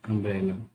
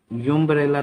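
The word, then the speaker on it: umbrella: अब जैसे next sentence है ही हैज डैश अम्ब्रेला। उसके पास अम्ब्रेला है, एक अम्ब्रेला है, इसका मतलब हुआ, इसको यूम्ब्रेला तो नहीं पढ़ेंगे, इसको हम पढ़ेंगे, अगर इसका उच्चारण हो अम्ब रेला, अम्ब।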